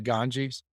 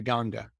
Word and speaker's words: Ganga: It's spelled Ganges. So you would think it's called the Ganges. It's actually called the Ganga.